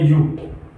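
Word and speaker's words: ewe: ई डब्ल्यू ई क्या बोला जाता है इसको, इसको बोलते हैं यू, अर्थ होता है इसका मादा भेड़, मादा भेड़।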